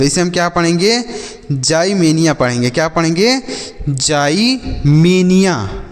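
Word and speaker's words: ximenia: अर्थ होता है बच्चों एक्स का यहां पर उच्चारण जो करेंगे वह ज के रूप में करेंगे तो इसे हम पढ़ेंगे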